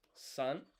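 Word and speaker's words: 三: Three is san.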